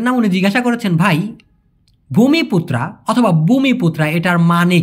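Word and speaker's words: Bumiputra: মূলত ভাই এই ভূমিপুত্রা এটার মূলত উচ্চারণ হবে ভূমি বি ইউ এম আই পি ইউটি আর এ ভূমিপুত্রা এটার মানে হচ্ছে অরিজিনাল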